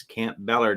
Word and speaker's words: Campobello: all right bert dasher we pronounce campobello as camp balor down here southern twang there you go that'll